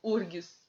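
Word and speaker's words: UFRGS: Esta questão da Federal do Rio Grande do Sul, eu acho muito engraçado, porque eles pronunciam URGS. Eu fico tentando entender. Eles não pronunciam F, né?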